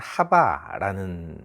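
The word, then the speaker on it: חַוָּה: 원래 하와의 발음은 하바라는 발음을 가지고 있죠.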